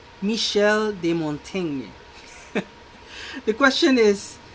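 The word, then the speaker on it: Michel de Montaigne: we say that so this is pronounced as michel de montagne michel de montene the question is not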